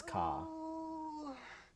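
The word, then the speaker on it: Kaa: How do you pronounce him? Ka. It is car. My sinus. You have just made a serious mistake. It is car, right?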